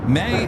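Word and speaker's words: Mae: May is pronounced like the month except for the E instead of the Y.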